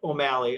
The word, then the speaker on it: O'Malley: would be my LinkedIn, which is O'Malley, altogether, Omalley.